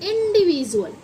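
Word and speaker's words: individual: Voice निकल गया इंडी इसे हम वी डुअल क्यों नहीं पढ़ते क्योंकि इसमें यू रूल क्या बोला? यू एल जैसे ही ऐड होगा तो डी की वॉइस ज हो जा हो जाती है।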